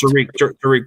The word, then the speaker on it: Tariq: It's pronounced Tariq Woolen.